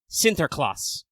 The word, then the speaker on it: Sinterklaas: So, in The Netherlands and Belgium region, that figure is known as Sinterklaas, which is the Dutch-ass, repronunciation of, Saint Nicholas, which I think means that then Santa Claus is just what happens when you de-Dutch that into, English.